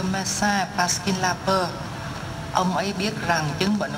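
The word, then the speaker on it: aux: À với lê thì ta gom lại thành ô, viết A-U-X. Nhưng ta đọc là ô thôi, ta không đọc là chữ xì ở đây.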